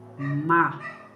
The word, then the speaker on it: má: Uma pessoa má. Má, você tem que falar forte e aberto.